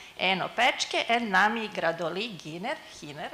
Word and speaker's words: Giner: Then Lisa van Heyden, Enno, Pötschke, and Nami, Gradoli, Hiner, actually in Spanish, but she's fixing her presentation, so you're going to meet her a bit later.